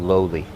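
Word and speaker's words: loli: for change it's called lowly it's about Loi but in Hawaiian they pronounce it lowly lowly is to transform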